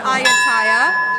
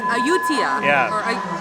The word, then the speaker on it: Ayutthaya: So we learned the proper way to say where we're going. It's not Ayutthaya, it's Ayutthaya. Ayutthaya.